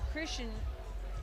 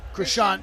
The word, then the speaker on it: Krishan: When you go to Christian, did I pronounce it right? Krishan, yeah. Krishan, I'm sorry, Krishan.